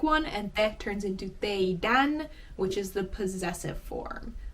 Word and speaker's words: teidän: And just like with meidän, to turn this into puhekieli, all you do is take the D off.